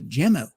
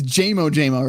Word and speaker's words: Jamo: So, any final words before we move on to Jammo? Nope, I think we're good. All right. And I keep mispronunciating it. It's Jamo, right? Yes, sir.